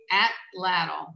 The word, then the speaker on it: atlatl: So speaking of weapons for a second, and please forgive my pronunciation. How does the atlatl work? It's actually atlatl.